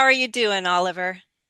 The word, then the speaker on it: Oliver: And try Ola. Instead of Ali, try with a short I. It's like a short I or even awah. Olive. Oliver.